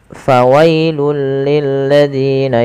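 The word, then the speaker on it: فَوَيْلٌ لِّلَّذِينَ: Pada lafal bacaan fawailul lilladzina yaktubuna. Padahal fal fawailul di sini tanwinnya langsung dimasukkan ke huruf lam. Fawailul ya awalnya fawailun karena bertemu dengan huruf lam maka tanwinnya dimasukkan ke huruf lam dan diganti dengan huruf lam.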